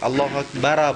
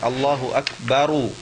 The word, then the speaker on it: الله أكبر: Аллаху акбар өтіп атырда, Аллаху акбару бол керек та, екеуін қосқан кезде келесімен жаңдай қосқан кезде сол р фатхалы болмау керек. Аллаху акбара болмау керек. Аллаху акбару бол керек та.